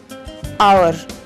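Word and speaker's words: hour: आवर, घंटा, ऑनर, सम्मान, इसमें एच साइलेंट है।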